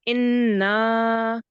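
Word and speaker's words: إِنَّ: So okay, the noon is I call them double sounds, or so holding. So it's inna. Inna, well done. And how many seconds you prolong this for, or how many counts? 2 seconds. 2 seconds because of the alif.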